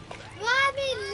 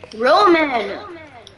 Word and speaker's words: Roman: Ramen left the game. Roman! It's not ramen, it's Roman! It's Roman, not ramen!